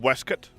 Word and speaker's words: waistcoat: always wearing a a waistcoat and stuff on earth it's pronounced wesket actually genuinely is in in many cases yeah but not here